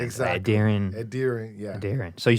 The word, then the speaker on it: Edirin: from where I'm from, it's Edirin. That's how it's actually said. Edirin. Yeah, that's how it's said. It's not easy. Even like I said, even Nigerians don't. You kind of emphasize an N at the end.